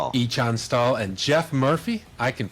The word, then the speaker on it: Ichan Stall: It's on Echon Stall. Ichan Stall and Jeff Murphy. I can pronounce that one all by myself.